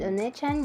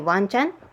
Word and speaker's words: Onechan: means lady of adventures tabby means travel and oneechan means young lady or older sister i use this spelling so that people will pronounce it correctly wait did you just say wan chan wan chan means dog in japanese i make